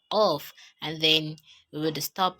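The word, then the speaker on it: Qaf: is a song later you pronounce it as off of it's your thunk that is doing the work but your truth is just um open it so off of off as in off then we have um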